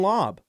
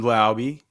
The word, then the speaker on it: Laube: What about Dylan Lobb? Oh, dude. Well, that's Dylan Laube.